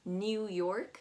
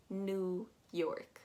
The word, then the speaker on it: New York: new york is that that e w is very misleading you're going to pronounce it more as an n u new york new york